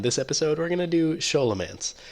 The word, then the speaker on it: Scholomance: episode we're gonna do show elements or skull a man says it's correctly pronounced I did look that